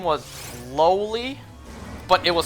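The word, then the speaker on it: Loli: the cat's name was lowly but it was spelled l-o-l-i pronounced lowly but spelled a whole different way how do you lose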